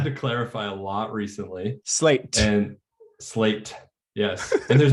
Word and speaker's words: Slate: i don't know if the way i pronunciate slate uh has changed but i no tell me what's what's the alternative pronunciation well a lot of people have assumed that i've been saying like we're called slay church like we're trying to be super hit hip or something slay church yeah can you imagine um